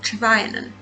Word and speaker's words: Trevanian: I always get his name wrong. Trevanian.